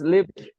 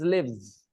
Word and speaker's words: live: If you are confused between the pronunciation, then remember the first one, Live, you pronounce it with soft tongue, live. Soft tongue, live. And when you say Leave, your tongue is hard, leave.